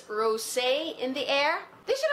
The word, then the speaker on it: Rosé: It's actually Rose in the Air, except they put an accent on the E, so I guess it's Rosé in the Air.